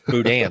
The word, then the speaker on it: boudin: Like, that's how to pronounce Boudin.